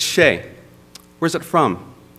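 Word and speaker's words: Hsieh: The H is in front of the S. How do you pronounce that? It's Shay.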